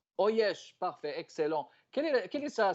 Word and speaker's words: Uiesh: Le U, là, en inno, on le prononce en O, donc ça fait en O. Oyesh. Oyesh, parfait, excellent.